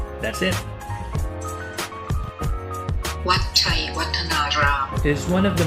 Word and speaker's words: Wat Chaiwatthanaram: next stop, I'm not really sure how to pronounce this correctly, so I need a little help from Google. Wat Chaiwatthanaram. That's it. Wat Chaiwatthanaram It is one of the most visited attractions in the Ayutthaya Historical Park.